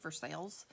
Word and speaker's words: Versailles: I'm in Versailles Kentucky which is spelled like Versailles Versailles in France but in Kentucky we save for sales so it sounds like for sale but it's for sales it's if you put